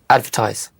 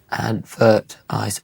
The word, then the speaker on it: advertise: Advertise. How many syllables? Advertise. Three. And which one's stressed? Advertise. Ad. Okay. Advertise.